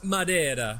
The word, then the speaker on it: Madeira: And it's pronounced Madeira. Oh, go down to the harbor or gargle the Spanish so much. Portuguese, Mary! It's Portuguese!